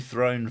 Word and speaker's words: throne: With a TH, not an F.